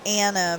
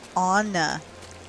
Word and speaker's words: Anna: Um, they keep calling her Anna because her name, you know, her name is spelled Anna, but on the movie, if you listen, they call her Anna.